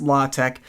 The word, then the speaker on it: LaTeX: Today we're going to make our nerdy Quarto documents look even a little bit nicer by learning some LaTeX. LaTeX, sometimes pronounced LaTeX, is technical typesetting software that's incredibly powerful, very